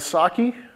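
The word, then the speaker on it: psake: Invoke build and Saki, the P is silent for some great reason, are like test and build runners.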